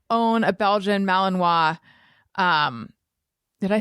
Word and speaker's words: Malinois: about like you should not own a Belgian Malinois um did I say it right yeah you